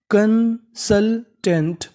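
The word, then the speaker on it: consultant: एस यू एल, इसे पढ़ेंगे शल, यहाँ पे जो यू है हमारा वो साइलेंट रहेगा।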